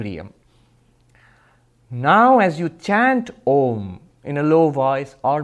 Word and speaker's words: Om: through that don't chant ohm ahh and together in sanskrit becomes o so ohm is the correct pronunciation not I'm not AUM